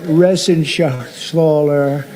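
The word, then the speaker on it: Reschenthaler: And Guy Resen Shaaler, you know that Resen Shaer, he's uh that's actually the way you pronounce it.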